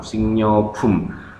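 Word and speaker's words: 식료품: Gwail buah-buahan, gwa dan maaf bukan emnyo ya, singnyobum, singnyobum, tapi bacanya singnyo, huruf mati G ketemu riel dibaca sengau, singnyobum, produk makanan.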